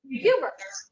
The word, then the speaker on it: Huber: speaker tonight and it is lynn and richard hoover so and i pronounced your last name right right really close hubert hubert hubert okay am i saying it right yes okay